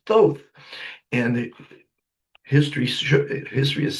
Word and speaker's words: Thoth: I was pronouncing it Thoth, but this guy was around before mankind, so he's the god of wisdom, and his name is Thoth.